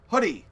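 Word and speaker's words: Hudi: high-level description of what hoodie is it spelled HUD I but it's pronounced hoodie like the sweatshirt I've got a hoodie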